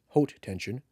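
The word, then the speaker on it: Haute Tension: horror film high tension high tension AKA hot tension which is the French pronunciation at least according to YouTube which I probably still in butchering anyways was my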